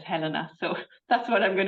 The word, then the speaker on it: Helena: yes so I'm going to speak about um Helena I'm pronouncing her Helena I know a lot of British people say Helena but in Germany one says Helena so that's what I'm going to do um